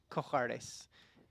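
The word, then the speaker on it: Comhghairdeas: Cojardes is Comhardes. Cojardes. Thanks. I don't know whether to try and pronounce that or to try and put it on a burrito.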